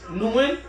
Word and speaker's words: Nguyen: That's how you say her name. Nguyen. On the go up.